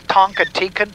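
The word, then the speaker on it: Toncontín: No, it's Toncontin.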